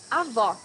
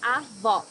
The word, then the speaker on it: avó: Avó, grandmother. Here you need to hear the sound of the last O in the syllable. It should be an open O as we say in Portuguese. Avó.